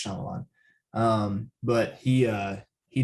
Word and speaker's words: Shyamalan: m night shyamalan um i'm not shyamalin or shyamalan one of those um sorry if i mispronounced that i think it's shyamalan um but he uh